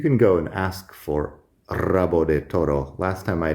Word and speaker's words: rabo: beginning of a word, if you have an R at the beginning of a word, you pronounce it like double R, even if it's written only as a single R.